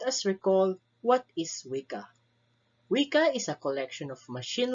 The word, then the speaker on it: Weka: bird with an inquisitive nature the name is pronounced like this and the word sounds like this wika is an open source software issued under the